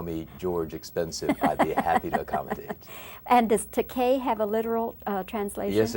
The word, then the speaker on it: Takei: last name it is it's pronounced Takei and its high Takei which is a pronunciation that many people choose to make but I tell them that's alright that is a legitimate Japanese word spell tak AI that translates into English as expensive so if they want